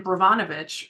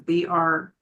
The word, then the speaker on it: Brnovich: And then Brovanovich, or again, ruining the name of the pronunciation, it's Brnovich, versus the Democratic National Committee, from 2021, stripped away more pieces.